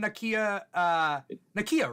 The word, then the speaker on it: Nakia: And then and then Nakia, right? That's her name? Yeah. Nakia. I think I always say Nakia. It is Nakia.